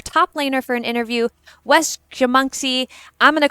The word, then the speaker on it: Wszechmocny: pronounced Wszechmocny. Do it one more time. Wszechmocny.